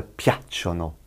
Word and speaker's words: piacciono: And piacciono, they are pleasing. Capito, ragazzi? Those are the two we will be working on. The piace and the piacciono.